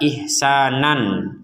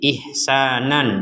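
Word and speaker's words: إحسانا: illallah Nah di sini ada kata ihsanan sekali lagi ihsanan di sini fathatain kita bacanya ihsanan tapi kenapa kita barusan praktiknya bacanya ihsana karena kita wakaf ataupun kita berh berhenti Kita membacanya ihsana dua dua harakat ketika kita menggabungkan kata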